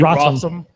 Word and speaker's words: Rossum: Emily Rossum. Yeah, Emily Rowson. Rossum.